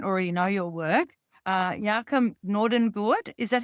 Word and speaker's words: Jacob Nordangård: So, for the listeners uh who don't already know your work, uh Yakam Nord, is that how I pronounce it? Yok Nordon Good.